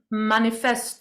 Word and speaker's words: manifeste: It's the French word. Technically, you pronounce it manifeste. It Manif looks like it looks like manif. manifestant, but Yeah. it's manifeste.